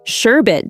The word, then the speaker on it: sherbet: I said mind blown when I learned sherbet doesn't have a second R.